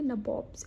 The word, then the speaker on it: nabobs: तब इसकी वजह से ही जो ब्रिटिश पार्लियामेंटेरियंस थे वो ईस्ट इंडियन कंपनी के सर्वेंट्स को नबोब्स कहते थे। इट इज़ सिमिलर टू नवाब, लेकिन उनकी प्रोनाउंसिएशन थी नबोब्स, NABOBS।